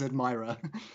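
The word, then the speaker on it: Admiror: we should say that it's spelled something like a d m i r o r so it's not Admiral sense but it basically is admirer right it's almost mirror it's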